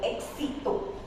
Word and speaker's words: éxito: So if X is followed by a vowel or any consonant, then it produces KS sound. For example, éxito.